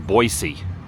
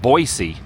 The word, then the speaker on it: Boise: There's a lot of flies in Boisey. Not to be pronounced Boise, but Boisey. But I think I either one is probably totally fine.